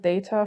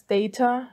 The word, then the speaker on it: Data: trek the next generation i will pronounce his name as data not data because in the german version of the next generation that i watched they called him like that the background footage is